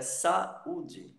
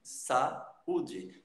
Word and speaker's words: saúde: Então você separa isso daí e pronuncia, inclusive, de uma forma meio que separada. Saúde.